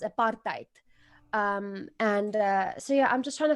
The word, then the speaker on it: apartheid: Those are two English words, but apartheid is an Afrikaans word, and it's apartheid. How is the sound? That's how it's pronounced, apartheid.